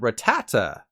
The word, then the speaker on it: Rattata: Pokemon's name really fast referring to what is Rattata why would I think any differently it's literally spelled like that but the Pokemon company really likes destroying people's hopes and dreams so it's actually called Rattata this makes no sense to me there's clearly